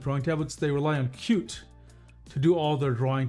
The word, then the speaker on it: Qt: Now Creda moved eventually I guess or it uh it's built on something called cute. It's spelled QT.